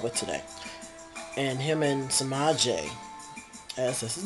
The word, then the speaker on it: Sema'J: And him and Sema'J, as that's his name, Sema'J is James, pronounced backwards.